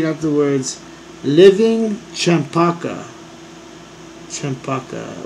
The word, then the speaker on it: champaca: Champaca. What does that rhyme with? Champaca. C-H-A-M-P-A-C-A. Champaca. What's that one animal that's, a chupacabra? There we go. This is funny. Champaca rhymes with chupacabra.